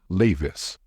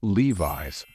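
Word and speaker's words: Levi's: a moment to think many non-native speakers tend to pronounce this word as leis however that's not correct the only right way to pronounce this word is Levis just remember it we're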